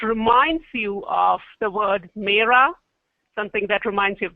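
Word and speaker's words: मेरा: these words so in Hindi my is the pronunciation for my is Mea mea and name is pretty similar to you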